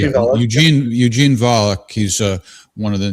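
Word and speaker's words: Volokh: So, I mentioned the Volic conspirac is his name pronounced Volik. Am I saying it? Eugene Eugene Volik.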